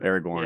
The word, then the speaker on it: Aragorn: Am I saying his name wrong? Aragorn. Aragorn, Yeah.